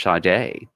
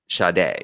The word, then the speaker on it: Sade: like Sade like si de but it's actually pronounced Sade so on the uncovers in yeah on the album covers in America is said Shaddai and then an in parentheses pronounced Sade you know phonetically but yeah they they were